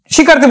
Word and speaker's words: শিক্ষা: শিক্ষার্থী বন্ধুরা, আমরা জানি এই যে ক্ষীয়টি কিন্তু ক প্লাস মূর্ধন্য স দ্বারা গঠিত। তো যদি শব্দের শেষে এই ক্ষীয় যুক্ত বর্ণটি থাকে তাহলে কিন্তু আমরা কক্ষের মতো উচ্চারণ করি।